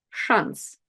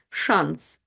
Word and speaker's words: шанс: Шанс. Шанс. It's also tricky to recognize, and that's the word chance. Ch in English, but sh in Russian. Шанс.